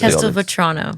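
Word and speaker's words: Castelvetrano: I don't know how to pronounce Cast Vrono.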